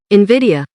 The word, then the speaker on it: Nvidia: Nvidia.